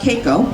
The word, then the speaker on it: Keiko: So the question is about Keiko, that's how it's pronounced, about comparing Keiko to Lolita and that comparison and how do I feel about it.